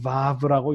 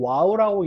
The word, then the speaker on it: vav: 이게 독일 사람들이 문법을 정리했기 때문에 W라고 써놓고 그죠? W라고 써놓고 이름은 독일식으로 vav라고 읽는 거예요. vav 이름이 vav입니다. 자, W라고 해놓고 vav라고 와우라고 읽는 사람도 있는데 이거는 독일어를 이제 영어식으로 읽은 건데요. 잘못 읽은 거고요. 독일어식으로 vav라고 읽으시면 되겠습니다.